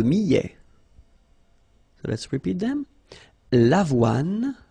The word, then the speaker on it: avoine: L'avoine. Remember, don't insist on the final E.